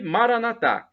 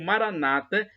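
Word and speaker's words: Maranatá: você pedir ele providenciará e Maranatha como dizemos nós católicos com a tônica na última sílaba o Maranata com a tônica na penúltima sílaba como dizem os protestantes evangélicos não importa a pronúncia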